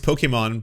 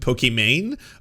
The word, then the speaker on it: Pokimane: see this as it was supposed to be pronounced pokemon but it's been messed up for so long that she accepted pokemane oh wow oh that's pretty wild so everyone